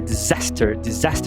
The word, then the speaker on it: disaster: A pronúncia de desastre é disaster, não disaster. Agora, desaparecer é disappear, porque o des do disappear é um sufixo, e o des do disaster não é um sufixo.